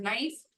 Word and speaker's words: knife: Third word knife, K is silent.